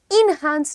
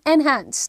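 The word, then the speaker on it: enhance: यूज करना चाहिए एनहांस everyone how ड you pronounce it इन हैंस नहीं एनहांस ठीक है ओके मूविंग ऑन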